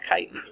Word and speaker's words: chitin: But it's spelled chitin. It's said chitin.